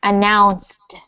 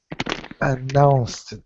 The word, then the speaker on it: announced: This is one of those ones that ends in the final D sound, so it's announced. announced.